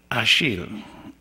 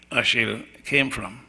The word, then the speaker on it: Achille: This section then has, what happens is that Achille, which is a French Creole pronunciation of Achilles, goes out fishing, and then he suffers from sunstroke.